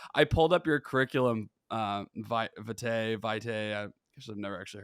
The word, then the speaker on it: vitae: I pulled up your curriculum, vitae. I guess I've never actually heard the pronunciation on that.